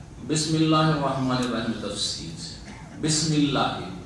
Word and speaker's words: বিসমিল্লাহ: সুতরাং ইকরা বিসমেতে যদিও বায়ের সাথে ওখানে আলিফটা হামজা ওয়াসল হয়ে মিলে গেছে, উচ্চারণে আলিফ আসে না, কিন্তু লিখাতে আসে, যেটা হচ্ছে আসল। এখানে সেটা হযফ হয়ে গেছে, উচ্চারণ আসে না আর লিখাতেও আসেনি।